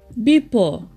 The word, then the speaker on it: bipo: For example, brother is pronounced brata, enough, enap, before, bipo, shark, sak, stand or stand up, sanap.